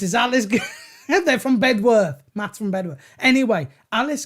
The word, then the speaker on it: Bedworth: He's saying, don't pronounce the W in Bedworth, but I'm going to.